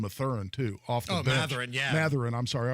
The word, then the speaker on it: Mathurin: Mathurin, yeah. Mathurin, I'm sorry, I always mispronounce that.